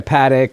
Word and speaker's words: Patek: If you're on your second or third, you're like, you got an AP, a Patek, like the more trendier watches of the moment. Patek, please. I could say Don't. Paddock.